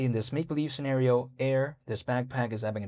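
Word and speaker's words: Aer: So this right here is a backpack, and the brand is called Air. Could you see that? Or can you see that, I should say? It's spelled A-E-R.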